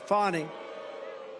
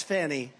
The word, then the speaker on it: Fani: Fani. It's pronounced Fani, F-A-N-I, that's Fanny. But she likes it Fani.